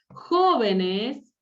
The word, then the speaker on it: jóvenes: Jóvenes, jóvenes es esdrújula.